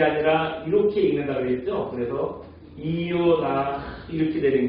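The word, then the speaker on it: יונה: 합치면은 그래서 이음과 오 이렇게 두 개가 합쳐지다 보니까 이요 해서 이게 요가 되는 거예요.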